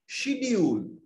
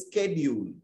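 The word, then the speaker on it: schedule: যেমন আমরা ধরে নাও ব্রিটিশ ইংলিশে বলি বা ইন্ডিয়াতেও বলি শিডিউল শিডিউল কি অর্থাৎ রুটিন রুটিনের আরেকটা শব্দ শিডিউল আমরা শিডিউল বলি কিন্তু আমেরিকানসরা বলে স্কেডিউল ওরা ওই পরিবর্তন তো ওরা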